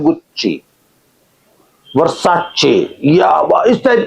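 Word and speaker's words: Gucci: एक ब्रांड है गुच्ची उसकी स्पेलिंग है डी जी U double C आई बोलते हैं गुच्ची वर्षाची यावा इस टाइप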